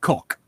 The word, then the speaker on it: Gogh: His actual last name, would, due to where he was from, would be pronounced Golf. Vincent Van Gogh. Mhm. But Americans pronounce it go, and the English pronounce it cook.